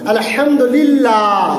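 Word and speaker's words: الحمد لله: লা দ্বারা পড়তে হবে শুধুমাত্র জেরের ক্ষেত্রে লা দ্বারা যেমন আলহামদুলিল্লাহ জের আছে লাম লাম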